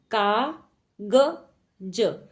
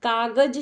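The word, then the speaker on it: काग़ज़: देखिए यह क्या शब्द लिखा है, कागज, कागज। बट कागज शब्द नहीं होता है, क्या होता है, कागज, कागज। आवाज, आवाज नहीं होता, इसके नीचे क्या लगेगा, नुक्ता।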